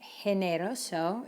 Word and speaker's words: generoso: or the letter e how do you think you pronounce this word if you were thinking generoso you're right so careful because we